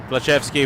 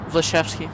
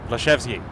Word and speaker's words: Vlasevski: Aleksandar Vlasevski was a member of the Toronto... Sorry? Vlasevski. Vlasevski? What did I say? You said it wrong. Said it wrong. Vlasevski. Better.